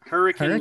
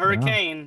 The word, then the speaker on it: Hurricane: Well, no, I live in Hurricane, Utah. It's not hurricane, but hurricane. You gotta pronounce it wrong for some reason.